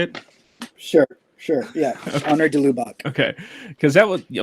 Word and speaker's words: de Lubac: hear about your research with, I think it's de Lubac. Is that how you say it? Sure. Yeah. Honor de Lubac.